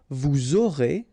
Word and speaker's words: vous aurez: final S not pronounced, and then you make the liaison, vous aurez, a Z at the end here, et, aurez, liaison here, vous aurez, ils auront, final T not pronounced, elles auront.